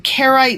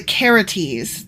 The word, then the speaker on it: Carite: um first thing is I was saying carite mercenaries but actually I'm pronouncing that wrong it's the caretes not the kerites ah okay yeah and